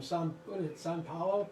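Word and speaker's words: São Paulo: of boston i mean if you just say it right you really may turn the p into a b i can't i have all one big giant vowel except for the b sao paulo okay cool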